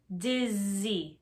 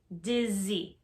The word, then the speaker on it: dizzy: i feel dizzy pronunciation dizzy dizzy if you take your hand and you put it on your throat dizzy when you say the z sound you should feel some vibration here that's how you know